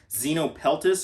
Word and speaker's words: Xenopeltis: They're part of their own genus, so it's the only one in that genus, and I think it's pronounced Xenopeltis, and hopefully I didn't just butcher that.